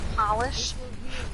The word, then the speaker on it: Polish: Polish. Yeah. I was told that's the correct way to say it by experts.